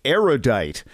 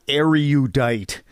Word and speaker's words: erudite: probably pedantic but seriously a surprising number of erudite people mispronounce erudite which has three syllables not four say erudite not erudite because you are judged by